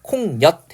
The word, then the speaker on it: 콩엿: 그 다음에 뒷말이 여로 시작하고 있기 때문에 콩엿 해서 니은이 첨가가 되고 있죠.